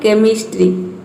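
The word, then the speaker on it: chemistry: उसी तरह से यहाँ पे देखिए केमिस्ट्री, केमिस्ट्री, तो इसमें सी के बाद जो एच आया है वो क्या है, साइलेंट है, उसको हम प्रोनाउंस नहीं कर रहे हैं, ये होता है केमिस्ट्री।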